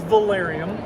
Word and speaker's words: Velarium: here looking at new awnings Jeff tell me pronounce the name of the company the name of the company is Valerian Valerian is actually Latin for the term awning